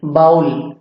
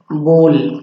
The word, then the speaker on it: bowl: तो इसे ही BOWL बाउल नहीं कहते हैं, इसका करेक्ट प्रोनाउंसिएशन है बोल। इसे बाउल नहीं कहेंगे, इसे कहेंगे बोल।